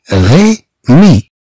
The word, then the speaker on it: Rémi: إذا ننطق الجميع غي مي. غي مي. إذا كما تلاحظوا بأن أ أكسون إيغي لا ننطقها أ بل ننطقها إي كما عندنا هنا.